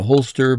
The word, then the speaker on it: Holst: and Holst is spelled like a holster, but with no ER at the end.